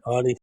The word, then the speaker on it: Ani: So, without any further ado, Annie, welcome to the Cosmic Switchboard Show. Thanks, James. It's actually pronounced Anie, but thank you though.